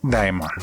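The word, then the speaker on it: daemon: pero no es casualidad en inglés se pronuncia Diamond sí como el príncipe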